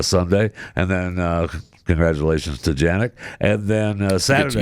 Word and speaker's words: Jannik: Congratulations to Jannik. And then Saturday. It's Yannick, but whatever. What is it? Yannick. But I think it's Yannick. I think that's how you pronounce his name.